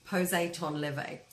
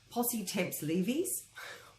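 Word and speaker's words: temps levé: One of my favourite ones when it's mispronounced is poser ton levé, often pronounced posse temps leves or pose de temps, but it is poser ton levé, despite its spelling.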